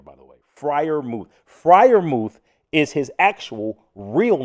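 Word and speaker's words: Freiermuth: Frier Mouth is his actual real name. Um, and it's quite easy to pronounce because you literally it's you read it like, "Oh, it's Frier Mouth.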